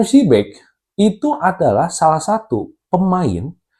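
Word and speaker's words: Przybek: Ya, gua dengarnya Adam Shibek ya. Dibacanya Adam Shibek itu adalah salah satu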